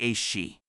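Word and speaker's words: aos sí: that the world of the AIO pronounced roughly a shei draws closest to our own.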